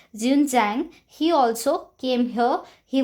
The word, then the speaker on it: Xuanzang: It's pronounced as Xuanzang.